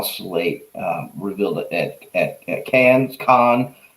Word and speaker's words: Cannes: revealed at cannes con so i i've heard it pronounced many different ways and i'm pretty bad with english even though it's my you know native language um but i think it's con i think it's con all right so studio canal